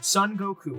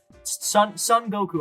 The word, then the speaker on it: Son Goku: and we see this wonderful main hero Goku, Son Goku, and he is so cool. That's how you pronounce it? That's yeah, that's how you pronounce it. Yeah. Exactly. Okay. That's how you pronounce it. Yeah. Son Goku.